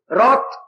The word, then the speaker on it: wrath: रात, WRATH पढ़ा कहीं? WRATH, रात। W नहीं, W साइलेंट है। W बिल्कुल साइलेंट।